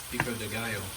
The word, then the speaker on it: pico de gallo: So I'm going to do some pico de gallo. Did I say that right? No. I didn't. I butchered that, didn't I? Say it, Milo. Pico de gallo.